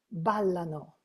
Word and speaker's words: ballano: But when we go to the last person, we say, ballano. The emphasis is in the first syllable.